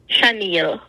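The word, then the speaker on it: Shaniel: a n i e l how do you pronounce that shil are you able to see that I just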